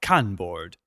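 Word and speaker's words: Kanboard: opsource software those are con board as in con from Star Trek but without the H Tilly work Tilly is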